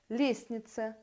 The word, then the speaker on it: лестница: в группе согласных звуков лестница произносятся без т сердце без д чувства